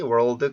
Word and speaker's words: world: 뭐 early, world, curly 이런 단어가 있는데 여기는 발음기호상으로 다 R, L 발음이 연속적으로 되어 있어요.